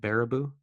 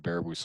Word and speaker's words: Baraboo: Baraboo? UW, University of Wisconsin, Baraboo County. So Baraboo.